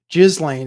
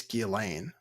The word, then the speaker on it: Ghislaine: Jizlane is not correct. Gilane. I believe it's Gilain. I believe it's kind of French.